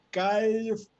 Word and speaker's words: Calfucurá: Dice que Namuncurá me explicó que el nombre de su padre se pronuncia Calfucurá.